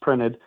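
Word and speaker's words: Print3D: at printed uh yes spelled print 3D but pronounced printed uh technologies is the gantry based system.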